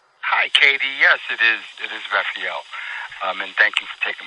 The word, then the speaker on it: Rafael: Yes, it is Rafael.